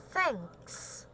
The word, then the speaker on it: thanks: okay now what about thanks thanks thanks things okay that is an unvoiced th the thing that i've always uh told you right unvoiced sound th it's like f thanks thanks thanks okay now